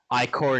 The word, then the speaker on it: Ichor: now so so i what are the dm says i-core nics okay okay so i'm okay